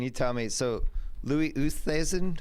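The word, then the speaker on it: Oosthuizen: tell me so Louis usas how do you say that one Lou usas works I've heard West haasen yeah usas works yeah Louie uh Carl schwarzel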